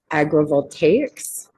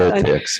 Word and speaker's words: agrivoltaics: to say, and then hopefully you're going to correct me when I say it not correctly, agrovoltaics. So integrating with agricultural practices so that there could be food. So did I say it right? Yes, Very good.